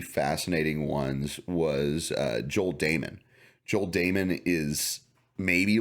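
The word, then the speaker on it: Dahmen: looks like dominant but but it's spell it's pronounced Damon um and just following him around but then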